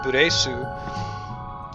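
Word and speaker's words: ブレス: breath in Japanese, which they wouldn't pronounce English breath, they'd pronounce it buresu.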